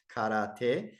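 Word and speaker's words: 唐手: If children were to begin training in todi, there's that word, which can also be pronounced karate, using the Japanese pronunciation of those characters, while in their elementary school, then they will be well suited for military service.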